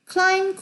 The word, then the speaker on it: climb: 실제로 아예 안 나는 게 여기 존재하잖아요. 무음인 것들. climb, comb, thumb, bum. 이거는 아예 안 나는 거예요.